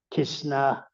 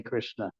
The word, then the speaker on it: Krishna: krishna mantra distinctly as we would think kishna in some languages it's very difficult to say krishna as we know the pronunciation the strict vicans pronunciations